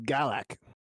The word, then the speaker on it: Galax: even mean so GAC so it's spelled g a l a x but it's said like g a l a c yeah oh so it's GAC yeah yeah almost like think of Galaxy but without the C all right